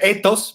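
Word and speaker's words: ἦθος: eos eso th sos se pronuncia etos pero pues no la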